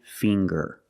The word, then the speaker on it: finger: And finger. Finger. We see the nasal sound, plus the hard G, the G. Ger. Finger.